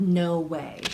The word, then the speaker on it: NoWhey: And it came up with this company called No Way. And Way is spelled W-H-E-Y, and I'll link them down below.